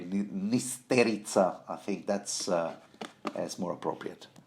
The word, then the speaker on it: Nysterica: Some septa named Nysterica, which I think I would rather pronounce, the Slavonic way, Nysterica.